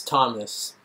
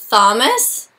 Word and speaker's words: Thomas: sound shouldn't it be thomas uh i guess not for my name okay actually students that is one of the only words i know where there's a th but where we don't pronounce it all the other ones